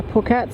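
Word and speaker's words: Phuket: Shout out for you for the uh corrections to the pronunciation of Pokeet. I was uh reading it completely wrong. I called it and it isn't. It's pokeet. So, thank you for the correction.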